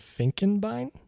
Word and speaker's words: Finkenbine: I'm sorry if I get your last name wrong is it finken Bine F Bine you absolutely have it yes oh